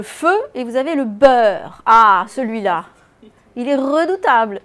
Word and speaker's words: beurre: disais toujours, mais attention, dans beurre, ça ne s'écrit pas comme ça se prononce. Et on le rappelle. Parce que le but du jeu, c'est quoi? C'est que finalement, ils retiennent que beurre s'écrit EU alors qu'on prononce E.